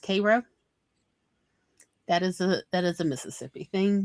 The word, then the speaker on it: Cairo: Cairo, Illinois is not pronounced Cairo, it's pronounced Cairo.